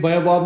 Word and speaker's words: baobab: Funny होगा ना उस टाइम पे baobab नाम का एक I was not able to pronounce it right. So it's called baobab.